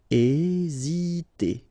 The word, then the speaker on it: hésiter: Okay, remember that H doesn't exist, so we don't pronounce it, and the first thing you will pronounce is this vowel here, E accent aigu, E. Hésiter. Hésiter.